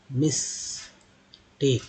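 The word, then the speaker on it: mistake: If there is any sort of मिस्टेक, ए के बाद ई आया तो उच्चारण हो गया टेक, टैक नहीं टेक। मिस्टेक either, E आर के पहले टी एच है तो दर हो गया आइदर।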